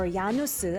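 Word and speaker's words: 야누스: Legendary jazz club Janus or Yanuzu as we pronounce in Korean.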